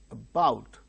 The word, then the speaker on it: about: Two syllables are there. but the initial syllable is very weak, about. So, because it is not stressed, it becomes weak, and the syllable which is uttered with a greater force is said to be stressed or accented. So, the second syllable bow, above, about.